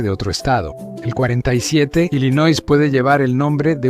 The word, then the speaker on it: Illinois: En lugar de pronunciarlo como Illinois, lo pronunciaron como Illinois, aunque eso tampoco es realmente inglés y ni